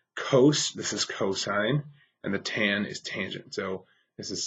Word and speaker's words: theta: represented with a Greek letter theta this is pronounced theta it's kind of written like a circle and